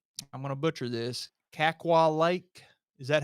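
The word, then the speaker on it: Kakwa: Kaqua Lake.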